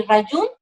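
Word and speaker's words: Rayuin: Y en el Instagram es yoga_rayun, y Rayun se escribe R-A-Y-U-I-N, Rayun, yoga_rayun, y la página web saladeyoga.cl.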